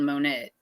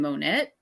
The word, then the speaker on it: Monette: We have a town near us, and it's called Monette, but my mom used to call it Monet, and we've had somebody. We're trying to find Monet, and it's like, you mean Monette?